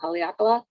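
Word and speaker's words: Haleakalā: they always say i always say it wrong haleakala and you can become a member of our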